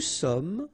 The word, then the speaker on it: sommes: Nous sommes, final S not pronounced.